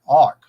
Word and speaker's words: Ankh: The word Anki, pronounced Anka, is made from the word Ankh, A-K-H, pronounced ark, which, according to Egyptological